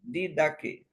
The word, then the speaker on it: Didaquê: Outra parte importante da literatura cristã primitiva, que nos dá um vislumbre do culto do segundo século, é um breve documento chamado Didaquê, pronunciado Didaquê, ou Ensino dos 12 Apóstolos.